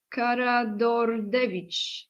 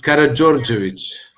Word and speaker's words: Karađorđević: Okay, you know how to pronounce it. House of Karađorđević, right? Karađorđević. Karađorđević.